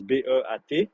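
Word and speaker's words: Polar Beat: Polar P-O-L-A-R B-E, espace B-E-A-T, Beat, comme Heartbeat, eh ben, tu peux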